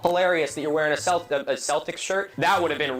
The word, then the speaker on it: Celtic: of the Boston fucking Celtics. Here in Ireland, except for the initial soft say in sports teams' names, like the Celtics, Celtic with a hard C or K is the standard, that would have been pretty embarrassing.